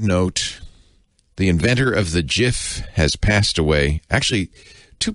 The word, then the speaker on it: GIF: was his acceptance speech it's pronounced jiff not gif so in honor of